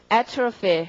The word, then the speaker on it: atrophy: atrophy, 강세가 앞이고 여러 번 읽어주시고요.